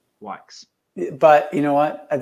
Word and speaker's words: Wykes: It's Wykes. Wykes.